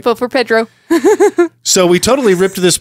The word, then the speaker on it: Pedro: It's like no, the Spanish E is pronounced like an A. Uh-huh. Like jalapeno. Yeah. One of those things that I get unreasonably frustrated at. All right. Vote for Pedro.